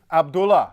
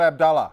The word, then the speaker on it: Abdullah: Mr Abbott excuse bad accent right um King Abdullah not Abdullah from Saudi Arabia I just call him sir